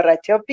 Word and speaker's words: Racioppi: en real life, en la vida real, Pablo Rachopi. Bien, Bueno, bien, y ¿sabes, pronunciás Pablo?